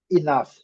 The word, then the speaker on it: enough: Enough.